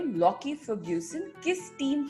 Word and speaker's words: Lockie: मैं कहता लोकी Ferguson, but नाउ इट इज यू are saying it इज लॉकी.